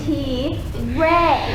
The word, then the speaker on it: Tire: TI t i r e Tire well it's pronounced T ray all right we'll start with you Tay your